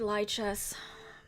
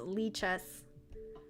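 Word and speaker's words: Lichess: Oh, it's pronounced Lee chess.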